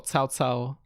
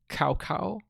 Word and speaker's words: Cao Cao: The early Dynasty Warriors games, their fucking pronunciation of the names is like appalling. Like I think they call Cao Cao Cow Cow.